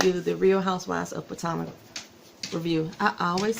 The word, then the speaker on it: Potomac: I always say it wrong, Potomac. It's Potomac.